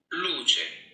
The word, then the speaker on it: Luce: And so I was like, oh my God, I've been saying it wrong. But it means light in Italian, but Luce.